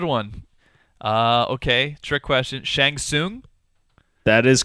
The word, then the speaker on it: Shang Tsung: Shang Shang yeah but the t's threw us off because there there were silent te's in his name yeah Shang Tsung there's actually weird instances